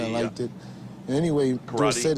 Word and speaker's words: Dorsett: And anyway, Dorsett is supposed to be a French name. Stop and go. And S-E-T-T spells set and not sit. So I think that is the correct pronunciation.